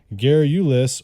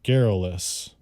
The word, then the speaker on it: garrulous: pronounced two different ways you can either say Gary Ulis or garrulous and it's spelled GA are are you ello us that's